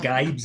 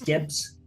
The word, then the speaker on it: Gibbs: It's not Gibes, it's Gibbs. No, but he's from the Midlands, so it is probably a bit Gibes White. Accidental correct pronunciation. double B. It's never an I.